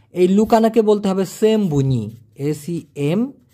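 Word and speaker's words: sembunyi: এই লুকানাকে বলতে হবে সেমবুনি এসই এম বি ইউ এন বুন ওয়াই আই সেমবুনি সেম্বুনি উচ্চারণটা হবে সকার ম বি বয়সু ন বুন ই সেম্বুনি অথবা রসই না দিয়ে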